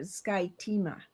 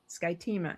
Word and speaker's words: Skyima: I also want to add how you pronounce her last name because I kept getting it wrong, but Skyima Skyima. Isn't that correct now?